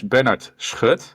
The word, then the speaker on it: Bernard: And uh well, my name is Bennard, which is a very Dutch name, you could say, so I can imagine it's hard to pronounce, of course. It's all that it's back of the throat stuff, isn't it? It's typical Dutch stuff.